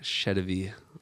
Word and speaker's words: Sedivy: And today we have Patrick Sedivy on the podcast with us.